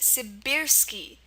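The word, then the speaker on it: сибирский: It's pronounced Sibirsky. Sibirsky, and there is a short I sound right here, and it's spelled with an E.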